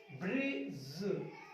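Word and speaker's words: bridge: D silent जी बाद जे से पहले कहां पे होता है, जी बाद जे से पहले डी साइलेंट होता है। देखिए ये आपका जी, इससे पहले आया डी, ए ज ब्रिज ब्रिज, हेज बजट जज नॉलेज गैजेट प्लेज।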